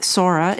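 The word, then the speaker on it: psora: not a homeopath um Sora is spelled PS s o r a and the soric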